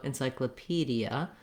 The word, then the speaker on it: encyclopedia: I always recommend starting on that stressed syllable and building from there.